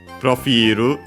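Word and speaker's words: プロフィール: The accent, is it like, yeah, it is like in French, so yeah, on the I of fi, profilu, subject particle ga, dekita, from the kiru.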